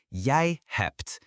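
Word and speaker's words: jij hebt: Now you have in Dutch is yay hept. Yay hept. J I h e bet. Yay hept. Notice the t at the end of hept.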